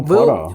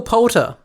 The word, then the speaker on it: Poulter: Will Potter. Will Poulter.